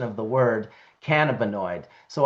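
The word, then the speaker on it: cannabinoid: pronunciation of the word cannabonoid. So I do try to consciously say canabonoid like cannabis uh the way Dr. David Allen has uh taught me.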